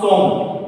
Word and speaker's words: sommes: word ending with OS, if that word is made of more than one syllable, made of more than 3 letters, in that case final OS will not be pronounced. I told, so how to pronounce som, because these two will be silent.